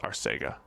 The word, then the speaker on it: Arcega: The proper way to say it in Spanish is Arcega.